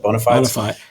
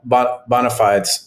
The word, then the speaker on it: bona fides: How do you say that? Bona fides? Bona fides.